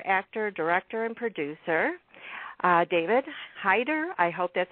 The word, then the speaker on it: Hayter: uh I I am I'm actually uh changing it to so that this interview will be more more comfortable um it used to be pronounced uh Hater Hater okay I wasn't sure